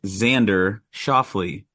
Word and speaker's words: Xander Schauffele: The correct answer is Xander Schauffele, or that other way you guys pronounced it.